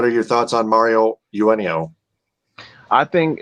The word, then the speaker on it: Eugenio: four-star defensive end Mario Eugenio. Of course, that would be pronounced the same way Eugenio Suarez, a former Detroit Tiger.